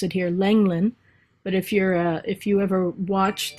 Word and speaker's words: Lenglen: And this one of the tennis great Suzanne, we pronounce it here Lenglen, but if you ever watch the French Open,